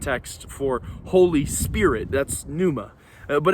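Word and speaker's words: pneuma: prepared to be impressed its Numa spelled PN I'd honestly Tony remember how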